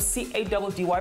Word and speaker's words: Caddy: I go by the name of C-A-D-D-Y, pronounced Caddy, and I'm coming you one.